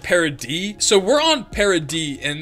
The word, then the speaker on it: Paradis: it says I know it says Paradise or it's spelled that way but it's like parody so we're on parody